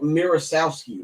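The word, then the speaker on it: Misiorowski: Jacob Mirrosowski. That's how you pronounce his name.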